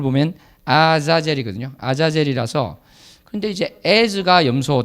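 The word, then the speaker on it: עזאזל: 업자들도 여러가지 의견을 내고 있습니다 원래 이지 원어 발음을 보면 아사 제리 거든요 아자젤 이라서 근데 이제 에이즈가 염소 다 그리고 아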